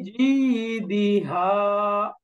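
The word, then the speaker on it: جيدها: ফি জিদিহা, ফি জিদিহা, দেখেন ফি ইয়ামাত, জি ইয়ামাত, হা আলিফাত, মাঝখানে দালের মধ্যে কোনো টান নেই। পরেরটা কত সুন্দর করে আগাইতে হবে। ফি জিদিহা, দিহা টান নেই।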